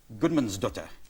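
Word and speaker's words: Guðmundsdóttir: But that's only a bit of your name, because it should be Bjork Gudmundsdóttir.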